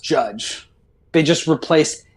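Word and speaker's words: Jydge: So people have been saying Jidge, but it's pronounced Judge.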